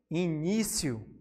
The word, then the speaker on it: início: Também temos a palavra início. Temos aqui o ni, né? A penúltima sílaba tônica.